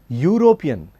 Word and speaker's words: European: The first letter of this word is E, which is a vowel. But we do not say an European, we always say a European. The reason is, again, the sound that is produced when European is uttered or pronounced is YU, European.